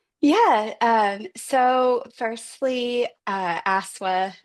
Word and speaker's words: ASCSSW: Um so firstly uh ASA is how we pronounce the acronym uh is ACA's newest division.